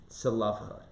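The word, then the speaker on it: צלפחד: We talked about the daughters, right here I'm highlighting it, daughters of, I don't even know how to pronounce it in English, but in Hebrew, Tzalafchad.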